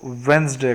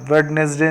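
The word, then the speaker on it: Wednesday: बाद जो डोरी है यह डिश साइलेंट है इसलिए हम वेडनेसडे नहीं बोलते हैं गलत है हम बोलते हैं वन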